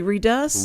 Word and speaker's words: Redus: Do they say redus?